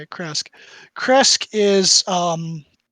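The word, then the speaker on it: Krezk: You would know that Kresk is, yeah, that's the right way to say it, Kresk.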